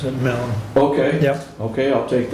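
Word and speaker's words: Milne: but it's blind m-i-l-n-e Mel yeah that's he pronounce it melon okay yep okay I'll take that and he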